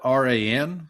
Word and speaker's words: Ran: So it's spelled R-A-N. So I believe it's pronounced Ran.